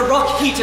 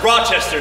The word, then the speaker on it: Rochester: finally made it to the Rock heater Institute Tech Nuki it's pronounced Rochester sir a potato tomato besides